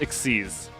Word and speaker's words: XYZ: the ABC exists also XYZ is pronounced exes for it don't ask why that